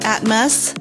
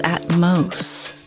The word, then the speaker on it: Atmos: It's not Atmos, like atmosphere. It's Atmos.